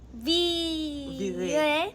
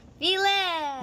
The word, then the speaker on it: vire: Virer. Say it. Vile. No, not virer. Virer. Vile. No, virer.